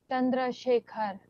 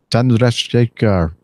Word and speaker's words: Chandrasekhar: Chandrasekhar. Chandrasekhar. Or you could just say shake her.